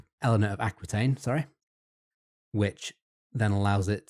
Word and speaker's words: Aquitaine: In this case, she is named Queen Eleanor, or Eleanor of Antiquain, I believe it's pronounced. Aquitaine. Eleanor of Aquitaine, sorry.